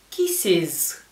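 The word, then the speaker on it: kisses: que pronunciar la palabra vamos a escuchar quisis la e se va a pronunciar como una I latina kisis luego tenemos un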